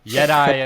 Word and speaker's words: YetAI: Yeah, I, Yeti. All right, like Jedi. I got to remember that. I'm gonna lock that in. yeah. Yeti in the chat.